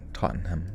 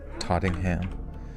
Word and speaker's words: Tottenham: looking gentleman told police officers in that tot Tottenham Tottenham Tottenham is that how you say it tottingham Tottenham the whole city smells like Tottenham Tottenham